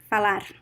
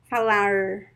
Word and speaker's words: falar: the same word so this this r the fricative r it is more common in sao paulo and southeast and south of brazil falar it's very fast i'm exaggerating a little bit to show you but usually we speak faster right and the other pronunciation that you find in small cities in the state of sao paulo and parana is falar and also other places in brazil the the midwest of brazil falar it's the